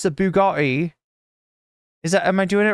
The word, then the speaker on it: Bugatti: It's the Bugatti.